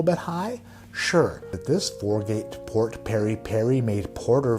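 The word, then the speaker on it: Four Gate: And not only is it great, but it rhymes with great. It is 4-Gate Port Peri Peri.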